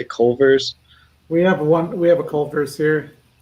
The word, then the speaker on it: Culver's: I guess that's how you say it, Culver's.